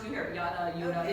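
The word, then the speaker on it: Jutta: Well, you hear it pronounced, you hear it, Yuta.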